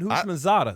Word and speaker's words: Houshmandzadeh: again one more time I thought I said who maada yeah that's right that's how I said okay